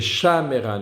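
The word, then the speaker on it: שָׁמְרָה: Mais ici, c'est une forme verticale. C'est le même avec le shva, c'est le début d'une autre syllabe.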